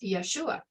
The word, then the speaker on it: Yeshua: that sounds like Yeshua Yeshua yodehave when you pronounce it is Yeshua this is the pentagram Aton I've shared this